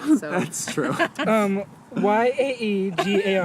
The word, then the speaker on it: Iaeger: Yaegar. That is really close. That is really close. it's IAEGER. That was pretty close, though.